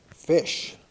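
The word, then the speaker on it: Fisch: Fish. Is that spelled like? F-I-S-C-H. Oh. Fish, F-I-S-C-H.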